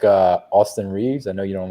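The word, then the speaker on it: Austin Reaves: I'll have trouble pronouncing it too. hey Houston. Houston Reeves.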